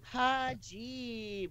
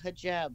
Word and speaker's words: hijab: They apparently was taken out of context, but hajib or something she said, and it's actually pronounced like hijab or something.